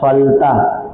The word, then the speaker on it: फलतः: तो अ तः अतः यही ना बोलते हैं। अतः फलतः ल तो ये याद रखिएगा। ह का उच्चारण आएगा।